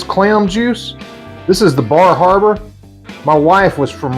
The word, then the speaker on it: Bar Harbor: juice this is the Bar Harbor my wife was from Right Around Bar Harbor I think up there they pronounce it like Baba or something like that so no I don't